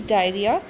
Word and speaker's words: diarrhoea: There is the correct spelling is diarrhea. Okay, O is silent, so it's going to be DIARRHOEA.